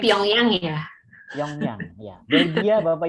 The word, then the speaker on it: Pyongyang: young young kue pilihan young young young yang bacanya Pyongyang Iya Yong Yong Belgia Bapak Ibu LG Belgium